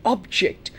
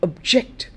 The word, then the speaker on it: object: to whatever I'm saying notice when there is a change in the function of the word when the word is not a noun but it becomes a verb there is a shift in the stress so functions of words